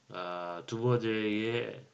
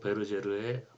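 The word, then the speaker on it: Duverger: 그러니까 정당의 수에 영향을 미치고, 그리고 이미 여러분이 두버제의 법칙, 영어로 발음하면 두버제의 법칙, 프랑스 언어로 발음하면 두 베르제르의 법칙, 그렇게 배웠죠.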